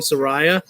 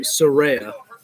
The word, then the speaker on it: Saraya: was against him yeah you gotta have to pause a little bit you know when you're trying to pronounce surreya's name because if we're so used to saying Soraya so it's gonna take a little bit get used to saying surreya but I guess if